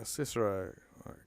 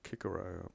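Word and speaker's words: Cicero: others thus as a cisero Kiko better put the Highlight there remind us that c is a hard C uh for this use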